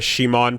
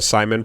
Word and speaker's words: Simon: talking Gurren, side note, if you're a Shimon pronouncer or a Simon pronouncer, you've been fighting for years, fight each other, and whoever survives is going to be correct. And in the meantime, we'll just use both interchangeably. Yeah, okay, it I doesn't can do matter.